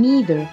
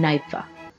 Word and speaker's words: neither: It used to be pronounced with the long E in Britain long time ago. However, nowadays, the British has an alternate pronunciation as part of the process of vowel shift, which is now with an initial diphthong, I, so that the words are pronounced either and neither.